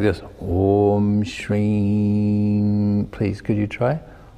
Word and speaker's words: Om: Now when Om is pronounced, it's a O, like you just whisper this word to you, open. It's like that O. It's like you're about to kiss somebody, O. Om, like that.